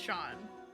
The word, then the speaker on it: Seam: The name Seam, pronounced Sean.